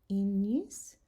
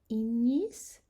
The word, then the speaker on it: ignis: And finally, the G, when it's together with an N, we're going to pronounce it nya, as in canyon. And here's some examples. Agnus, magnam, ignis, magnificat.